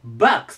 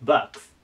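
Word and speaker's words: box: なるんですと発音がちょっと気をつけて欲しくてこれ BO なんですけど場になります場この O がねあの発音になることて結構多いんですけどバックスと言いますバックスいいかなで 2 番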